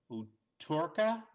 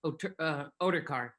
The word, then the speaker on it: Oderkar: Would you pronounce that again for me? Yeah, it's Oderkar.